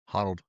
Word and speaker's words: Honnold: If you watch that Alex Hanold, or I can't pronounce his last name. I mean, Honnold.